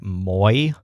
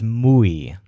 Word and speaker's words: muy: pronounce this word like moi, which is not a word. It's muy. So if you moo like a cow, you'll pronounce it more like a native speaker.